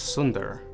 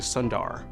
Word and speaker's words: Sundar: like they belonged cuz in THL it's Sunder but my dad who's a doctor none of his patients could say his name so he changed it to Sundar and that's how I've always said my name so now it's our